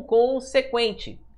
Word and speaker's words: consequente: consequente tá vendo ó Por que pessoal só aquele n ali aquele n não tem som tudo bem Ó É como se eu falasse assim ó con se quente o